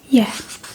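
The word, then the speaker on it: ja: So the first one let's start with the positive will say f yeah j a which means yes.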